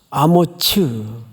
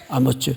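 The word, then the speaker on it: 아모츠: 밑에 푼노트를 한번 보세요 히브리 말로 뭐라고 발음하도록 돼 있죠 아무츠 아머츠 원래 이렇게 번역이 됐어야 맞았습니다 근데 이게 외래 오다 보니까 우리 개혁개적 여러분들이 지금 보고 있는이 성경은 아모스로 번역을 해버렸어요 그래서 어느 사람과 혼동을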